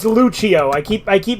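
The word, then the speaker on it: Lucio: zombie uh it's pronounced zomi well it's it's Lucho I keep I keep mispronouncing it luggio but it's Lucho yeah this is by Yu-Gi-Oh fi guys anyway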